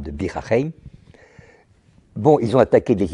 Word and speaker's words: Bir Hakeim: là, de Bir Hakeim, je le prononce à l'arabe, de Bir Hakeim.